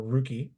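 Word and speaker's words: Ruchè: Then we'll move on to the uh ruk or rookie as uh Allison likes to call it, but hard hard C sound on that one.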